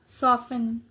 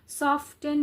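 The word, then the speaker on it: soften: ठीक है सॉफेन ओके सॉफ्टेन नहीं सॉफ्टेन लेकिन स्पेलिंग सॉफ्ट और इ एन ठीक है तो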